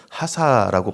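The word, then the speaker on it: חסה: 그렇게 고백하면서 자신의 생명과 안전이 하나님의 경고하심과 신실하심에 달려 있다라고 그렇게 믿었던 것입니다.이 시편에 피하다라는 단어를 좀 원어로 보면 하사라고 발음을 하는데요.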